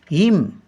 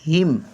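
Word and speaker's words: hymn: एस एच आय P worship worship म्हणजे पूजा हिम एच वाय एम एन एच वाय एम एन हिम हिम म्हणजे स्तोत्र काही spelling उच्चारावरून आहेत काही स्पेलिंग उच्चारून नाही आहे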